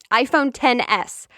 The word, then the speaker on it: iPhone XS: new iPhones number one iPhone 10s yes it's written like iPhone X but it's actually pronounced like the Roman numeral so iPhone 10s then